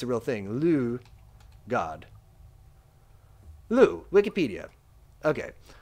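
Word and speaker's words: Lugh: Lu, God. Lu, Wikipedia. Okay. Lug, or Lug, modern Irish, Lu. Okay, Lu is probably the right way to say it.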